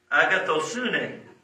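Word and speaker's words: ἀγαθωσύνη: The Greek word for goodness is agathosune.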